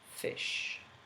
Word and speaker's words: ghoti: So this word here, GHOTI, can actually be pronounced fish.